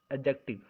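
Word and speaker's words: adjective: question number 19 क्या है, form of एडजेक्टिव, अब पूछा गया, अब आपको बताना, अगर आपने एडजेक्टिव पढ़ा होगा, एडजेक्टिव नहीं होता है, एडजेक्टिव एडजेक्टिव होता है, क्योंकि उसमें डी जो होता है साइलेंट होता है, पढ़ना सीख लीजिए, एडजेक्टिव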